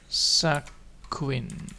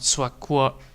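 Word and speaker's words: 索引: Not Swakwa. Queen. Nee, Queen. Ah, Sakuin. Queen. So the U is not spoken out in my way of how to say it. So it's Sakuin. Basically, right? Again, double check. 作品作品作品作品 Yeah, Queen. So yes, there is a Q. The U is spoken out as a Q, which is quite funny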